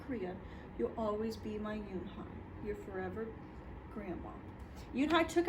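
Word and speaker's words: Unhei: Yoonhai looked quickly at Mr. Kim and then turned to Joey. She nodded slowly. It's pronounced Yoonhai.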